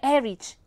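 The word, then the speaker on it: Ehrich: the name max herrich er erich e h harris h r i c h you can't pronounce the h oh it's so yeah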